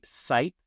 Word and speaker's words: Seipp: Today we have Seipp, which rhymes with type, and I wish Well done.